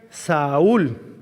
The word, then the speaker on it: Saúl: que significa su nombre saulo era un nombre hebreo se pronuncia saúl le suena a ese nombre a otro personaje del antiguo testamento el primer rey que hubo ese es el nombre hebreo saúl saulo y significa llamado